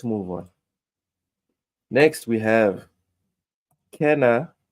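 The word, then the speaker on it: Kena: next we have Kenna I love how the Americans say Kina I love it uh Kenna bridge bridge of spirits coming to Xbox series Xbox One on August 15th it's Ken not not ka Kenna looks like Ka oh God Emy the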